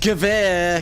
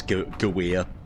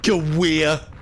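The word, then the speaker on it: Gävle: It's pronounced Gavir, KO. The lady said it is Gawir. Gawir. Text-to-speech lady is a noob when it comes to German.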